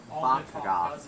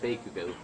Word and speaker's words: Bakugo: how do you pronounce it? Katsaki Bakaga. Okay, now you're screwing with me even more. Come on. No. Okay, fine. It's Bakugo.